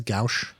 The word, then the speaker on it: gouache: Gouache. It's like Gouch.